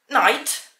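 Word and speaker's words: knight: Również ta sama wymowa będzie w słówku night, noc i night, rycerz. Bez K na początku.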